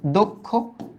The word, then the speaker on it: দক্ষ: বলো ক্ষিয় এর আগে যদি অধ্বনি থাকে ওটা ওকার যুক্ত হয়, তাই এটার উচ্চারিত রূপটা কি, দক্ষ, দক্ষ। এটাও তো আমাদের হয়ে গেছিল।